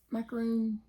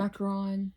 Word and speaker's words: macaron: It's some macaroon. Cute. Macaron. Very cute. Macaron. I say it wrong every time. Macaroon.